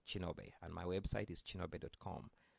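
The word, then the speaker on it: Kinobe: that uh so um my name is chinobi with a k k i n o b e in my home country Ki is pronounced as a chi uh so each time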